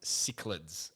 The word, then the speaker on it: cichlids: And it's pronounced cichlids, and they're from lakes in Africa, and they're like the hardiest fish.